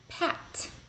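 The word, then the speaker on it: пять: of tricky chitiri five Pat Pat kind of like a pat on the back Pat six chest chest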